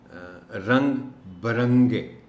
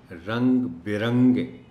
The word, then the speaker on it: رنگ برنگے: جو رنگ برنگے ہے، اس کو عام طور پر لوگ پڑھتے ہیں رنگ برنگے، یعنی بے کے اوپر زبر کے ساتھ، جبکہ درست تلفظ اس کا ہے بے کے نیچے زیر اور پڑھا جائے گا رنگ برنگے، برنگے نہیں، رنگ برنگے۔ اس کے علاوہ کوشش